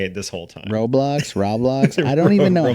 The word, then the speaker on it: Roblox: the sake of this episode I will say Roblox just just I hope I'm right but yeah okay roblocks sound like an if it's pronounced roblocks Rob roblocks uh anyway okay so